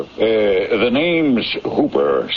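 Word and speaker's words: Houber: Uh, the name's Hooper, spelled H O U B E R, but pronounced to rhyme with Cooper.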